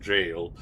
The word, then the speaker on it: gaol: Like the old term for jail, which is written kind of like a gaol or something, but it is pronounced jail.